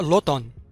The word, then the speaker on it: automne: قرأ l'automne. l'automne. ملحوظة، الأم أو الميم هنا ساكنة لا تنطق، نقرأ l'automne.